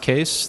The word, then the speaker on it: Kees: a quick intro I'm case it's pronounced case the spelling is Dutch and it's my grandfather's